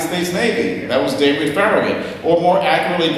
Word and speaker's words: Farragut: That was David Farragut, or more accurately pronounced, David Farragut, whose biological father was a Spanish soldier who fought for the United States in the Revolutionary War.